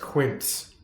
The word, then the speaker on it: quince: It's pronounced quince.